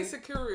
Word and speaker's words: Sikuru: Just say Sikuru, it's not that hard. Sikuru. Sikuru is the same amount of syllables as like Shoshana.